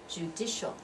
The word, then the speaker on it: judicial: the legislative legislature legislative judicial three syllables right judicial at second one is the one that receives dress oops with judicial and that CI again has that SH sound right judicial and notice looks